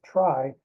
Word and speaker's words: trie: So I follow the example of most other people and I pronounce it as try in order to distinguish it from other data structures like trees. So how does a try work?